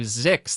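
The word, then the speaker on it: Zyxx: as her hilarious podcast mission to zix that is spelled zy xx and it is an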